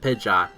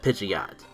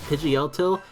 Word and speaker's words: Pidgeot: You go from Pidgey, Pidgeotto, and then Pidgeot.